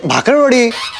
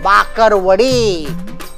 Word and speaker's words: बाकरवड़ी: नहीं नहीं मिलेगी, पहले ठीक से बोलना सीख, उसका सही उच्चारण होता है बाकरवड़ी। बकरी, बकरी का ब, बाकरवड़ी बोल के दिखा।